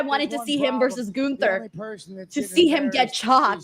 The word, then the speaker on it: Gunther: It's Gunther. We've all practiced really hard at pronunciating it like I that.